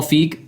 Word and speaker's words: Feig: Ivan rayman's 1984 classic it's Fe Paul feig yeah okay I mess that up all the time it's the same thing how do